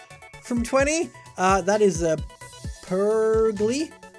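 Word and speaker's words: Purugly: twenty that is a per glee I just spell it no it's like per glee uh-huh Polly hot why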